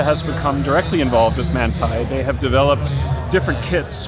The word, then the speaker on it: Manthey: Am I pronouncing that correctly? Yes, Manthey.